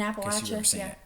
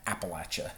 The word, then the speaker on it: Appalachia: Also, we have people here in Appalachia like the people that are And that is how it's pronounced, by the way. In Appalachia. Appalachia.